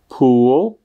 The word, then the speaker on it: pool: Tak, jak sami slyšíte, tak zatímco bazén se vysloví s dlouhým U, pull, tak sloveso zatáhnout se vyslovuje, jako byste spíše chtěli říct něco mezi O a U, to pull.